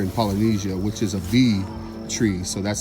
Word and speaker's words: Vi: to it here in Polynesia, which is a V tree. So that's spelled V-I.